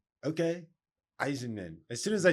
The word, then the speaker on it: Eisenman: I've always heard it as Eisenman. Eisenman. Yeah, because it's like Eisenhower but cut off the hower and put a man. Okay. Eisenman.